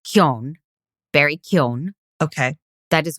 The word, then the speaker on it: Keoghan: So, and it's Keoghan, Barry Keoghan.